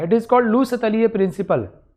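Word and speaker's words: Le Chatelier: इट is called लू सतलीय principal, है ना। इसको आप लोग गड़बड़ प्रोनाउंसिएशन करते हो, ली चटलियर्स principal, but इट is exactly लू सतलीय प्रिंसिपल।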